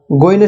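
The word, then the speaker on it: غين: এরপরে আমরা গইনের সাথে পরিচিত হব। এখন যে হরফটি দেখতে পাচ্ছেন, এই হরফটির নাম হলো গইন। গইন উচ্চারণের নিয়মটি হলো কণ্ঠনালীর উপরিভাগ হতে নির্গত হয়।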